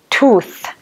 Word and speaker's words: tooth: so you have tooth just pay attention how I pronounce that tooth so you have to for the th sound at the end of the word so you have to put your tongue between your teeth and say tooth and the plural so